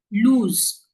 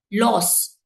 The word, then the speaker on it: lose: Lose will be lost and lost. So there are again candidates who mispronounce this by saying loss.